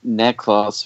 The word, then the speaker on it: Necklaus: It is Necklaus, which means Nestle's little one. Oh. But they spell it Neclaus. Okay. Because it's close to Nicholas, so they're trying to tie that together.